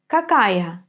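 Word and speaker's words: какая: the weather like good but now focus on pronunciation first listen and then repeat with me kak kakaya kak so we have three forms for masculine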